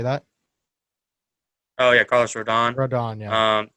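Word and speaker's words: Rodón: back end i mean you either got kobach radon randon how do you say that oh yeah carlos rodon rodon um right now the lopez just got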